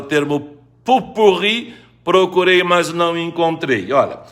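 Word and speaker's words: pot-pourri: exatamente como você escreveu tá dizendo que a pronúncia é Popurri não traz a forma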